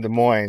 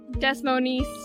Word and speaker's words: Des Moines: keeps calling it what desmon desmon desmon I don't know what they teach in geography school anymore class geography class it's the mo the S is silent it's French the mo it's French